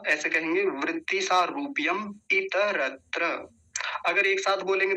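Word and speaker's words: वृत्ति सारूप्यम् इतरत्र: अच्छे से कंठस्थ करेंगे शुद्ध रूप में, अशुद्ध उच्चारण नहीं होना चाहिए। तो क्या है, वृत्ति सारूप्य, या ऐसे कहेंगे वृत्ति सारूप्यम इतरत्र। अगर एक साथ बोलेंगे तो कैसे बोलेंगे, देखिए पहले ध्यान से, वृत्ति सारूप्यम इतरत्र, वृत्ति सारूप्यम इतरत्र ऐसा बोलेंगे।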